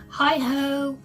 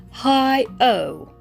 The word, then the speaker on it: HighOh: i said this is this company is called hi-ho hey y'all i had to jump in here and just say i keep saying the name of this company wrong it's pronounced hi o not hi ho so i just wanted to